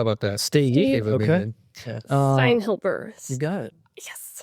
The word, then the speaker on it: Steinhilber: Steinhilber. You got it. Yes. How do you say it? Steinhilber.